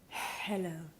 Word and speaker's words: hello: La H en inglés no se pronuncia como una J, sino que se aspira. No tiene nada que ver con pasar el aspirador por casa. Let me show you. Hello.